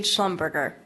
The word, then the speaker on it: Schlumberger: since I butchered it it's paig Schlumberger Schlumberger I was just overthinking it thank you very German